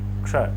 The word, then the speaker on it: क्ष: उच्चारण आप करके देखें आधा क बोले षटकोण मूर्धन्य स बोले क्ष सही उच्चारण आएगा और जो तत्र जो